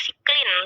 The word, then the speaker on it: cyclin: Oke ya, jadi bacanya siklin ya, cyclin atau cyclin dan juga cyclin dependent kinase, atau kalau bahasa Indonesianya siklin sama CDK gitu ya.